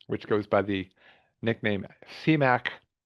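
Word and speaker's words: CMAQ: There's a concession mitigation and air quality improvement program, which goes by the nickname CMAC, spelled with a Q, but pronounced with a K.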